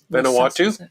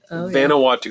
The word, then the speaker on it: Vanuatu: Vanuatu Vanuatu That's how you say it.